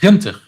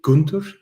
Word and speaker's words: Gunther: with me I have Gunter Gunter is that how I should pronounce it in English I think so just a double Che